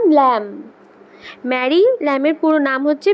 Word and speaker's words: Lamb: লিখেছেন Mary ল্যাম। উচ্চারণটা কি বললাম? ল্যাম।